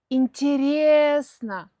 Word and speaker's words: интересно: Интересно. Ударение на Е.